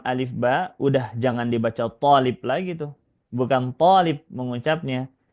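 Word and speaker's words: طالب: Nah, kalau seperti ini bacanya atau seperti ini harakatnya, cukup kita panjangkan to-nya, tolib, tolib. Saat awal-awal belajar dulu ada yang baca tolib, gitu. Sama seperti tobib, enggak ya. Tolib, to-nya yang dipanjangkan dan itu satu siswa.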